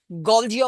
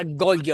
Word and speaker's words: Golgi: It is pronounced in two ways. Golgi apparatus or Golgi apparatus. In Canada, Golgi apparatus.